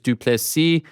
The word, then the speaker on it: Du Plessis: Dricus Du Plessis. The S is silent.